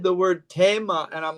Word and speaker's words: Thema: You know, Tema, Tema. that's a Theme. German pronunciation. Mm. I was listening to a German man speaking, and he said the word Thema, and I'm like, oh my Mm.